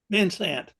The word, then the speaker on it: Vansant: Vansant. Vansant. Yep. Just like it's spelled.